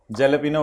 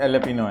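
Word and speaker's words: Jalapeño: जेलेपिनो वालों, ये एलेपिनो है, जे को साइलेंट रखना है।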